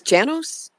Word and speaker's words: Janos: I think it's Janos. Janos. I think.